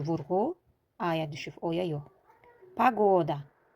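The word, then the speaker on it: пагода: Pagoda. Fikir verin. Vurgu ikinci O'ya düştüğü için. O kim okunur? İlk O vurgusuz olduğu için A kim okunur?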